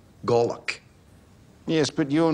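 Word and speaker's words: golok: In the military, it's called a Glock. G-O-L-O-K. Pronounced Glock.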